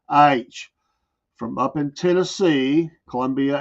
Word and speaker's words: Aytch: book company H and it's spelled out AYTCH like you would say it H from up in Tennessee